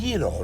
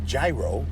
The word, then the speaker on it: gyro: Well, it's pronounced gyro, not gyro.